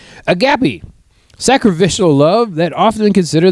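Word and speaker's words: agape: Uh, agapy. That's how you say it. A G- A P E. Um, read the article. Let me know if I'm saying any of these correctly. Agapy.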